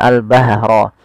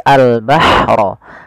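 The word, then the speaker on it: الْبَحْرَ: Kemudian pada lafal al-bahra ada ha sukun, ini jangan dibaca dengan al-bahra tapi al-bahra.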